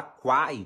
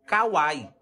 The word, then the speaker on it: Kwai: que que significa isso quem fala Quai não tá errado porque é a forma que é pronunciada lá na China né Ela falou que aqui como é uma cultura diferente as pessoas usam Kawai mas as duas estão certo entendeu Pode falar Quai ou Kawai tá vendo Aí ó